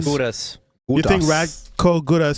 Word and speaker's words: Gudas: Gudas.